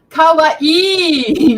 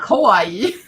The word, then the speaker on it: kawaii: take it away it's it's Kawaii not Kawaii all right let's learn